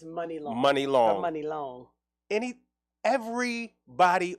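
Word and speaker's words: Muni Long: But then you got, like, this year, the girl who's nominated, how you pronounce it, Money or Mooney Long? It's Money Long.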